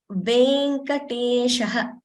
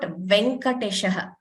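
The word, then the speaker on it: वेङ्कटेशः: And another important thing to note is these letters A, I, O, Au are always pronounced long in Sanskrit. There is no shorter version of these letters. So, for example, when we say Venkateshaha, it is Venkateshaha. It is not Venkateshaha.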